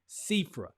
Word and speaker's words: Xifra: And I'm going to be talking about a particular company called Sifra. That's spelled Xifra.